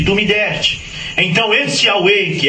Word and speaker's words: Yahweh: O seu nome não é Pai, o seu nome é Yahweh, Y-H-W-H, pronuncia-se Yahweh, que quando Jesus manifestou, ele recebeu o nome do Pai.